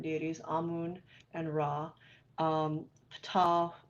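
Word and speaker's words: Ptah: on moon and raw Fatah and I'm pronouncing it that way so you know it starts with P tah so you can see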